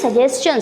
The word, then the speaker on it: suggestion: When S comes before T-I-O-N, its pronunciation becomes ch. Clear? It is suggestion.